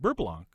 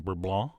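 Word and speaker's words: beurre blanc: Blanc but I believe in French it's correctly pronounced bur Blanc which is exactly why I use the Americanized bur Blanc I can't keep a straight face saying bur blon but anyway how you say it's up to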